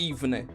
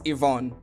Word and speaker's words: Yvonne: So that's how you pronounce it. Like, it's not Yvonne, it's Yvonne. Okay, that's actually easier to say.